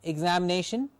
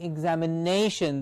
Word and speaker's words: examination: i'm pronouncing the words i'm not saying examination i'm saying examination the nay gets the stress the more effort has to be put at pronouncing or saying out nay examination determination preparation application